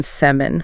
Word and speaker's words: salmon: Silent in salmon.